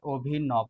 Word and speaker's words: অভিনব: তো এটাকে যদি তুমি ভেঙে উচ্চারণ আকারে লেখো, ও হচ্ছে অর মতো উচ্চারণ হয় অভিনব, বর হচ্ছে ওকার উচ্চারণ হয় অভিনব।